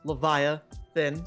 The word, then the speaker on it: Leviathan: As Leviathan. So it just goes easy. Levia and then Ethan, but you drop the E.